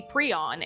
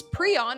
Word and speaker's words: prion: The pronunciation is actually preon and despite the internet itself in different articles stating that you can pronounce it both ways, in academic documents and settings, preon is the only way you should be pronouncing